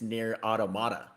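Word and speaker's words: NieR: Automata: the narrat the narrator we've all been saying it wrong apparently it's near automata i always thought it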